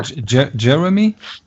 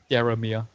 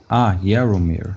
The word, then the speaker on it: Jaromir: Jeremy? Jaromir. Jeremy. I'll write it in Skype. Yeah, thanks. Jeremy Irolo. Jaromir. Okay, yeah. But that's just pronounced a Y as a J.